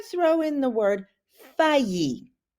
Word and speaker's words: faillir: throw in the word fayi the hardest thing about that is just remembering how to pronounce it so those two L's are going to sound like a y okay so and then